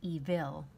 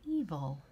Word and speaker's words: evil: few examples here evil notice how we do not say evil because this is a short i sound we think but we actually don't say evil we say evil notice that eve o that short u sound even though it's an i represents a schwa then